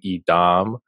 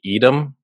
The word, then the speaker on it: Edam: And then I kept pronouncing Edam, where it's supposed to be Edam.